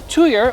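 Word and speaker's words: tuyere: A tuyer, or pronounced a tweer by some, is the pipe through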